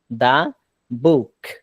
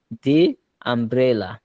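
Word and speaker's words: the: কোন ওয়ার্ড এখানে ভাওয়েল থাকবে না তখন এটার উচ্চারণ হবে দা যেমন দা বুক আর যদি ভাওয়েল থাকে কোন ওয়ার্ডের শুরুতে তখন উচ্চারণ হবে দি যেমন দি আমব্রেলা আচ্ছা তো এই ওয়ার্ডের এখন অর্থটা আমরা পাইলাম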